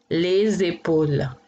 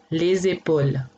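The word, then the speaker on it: les épaules: इनके आगे, ले जेपल, क्योंकि यहाँ पे वॉयल है तो इसको एक साथ पढ़ा जाएगा तो जेड की तरह सुनाई देगा, ले जेपल, ले जेपल, ले जेपल।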